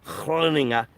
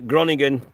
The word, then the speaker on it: Groningen: We do not want another Groningen, or sorry, let me pronounce that, or try to pronounce that correctly, Groningen. We do not want another Groningen, English pronunciation, experience where thousands of properties